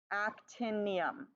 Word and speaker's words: actinium: pronounce it okay so what's the first syllable Act and then what's our second syllable in so we have Act 10 and then yes actinium so what do you